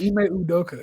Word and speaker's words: Ime Udoka: Ime Udoka, right? Damn. Yeah, I said it right. Ime Udoka.